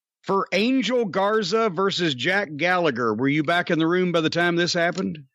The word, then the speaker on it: Gallagher: I like Jack Gallagher, or I guess Gallagher, we're supposed to pronounce it as, when he was in the Cruiserweight tournament a few years ago.